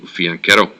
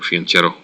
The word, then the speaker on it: fianchetto: he really likes to fianchetto or fiancherro whichever way you want to pronounce it um he will in